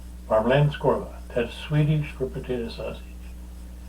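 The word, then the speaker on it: Värmlandskorv: It's kind of hard to say, but Varmlandskorv. And it doesn't look like, it doesn't pronounce, you don't pronounce it like it's spelled, because it looks funny. So, Swedish potato sausage, Varmlandskorv.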